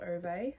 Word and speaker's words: Ove: And then this morning I began a man called Oy I believe it's pronounced by Frederick Bachmann which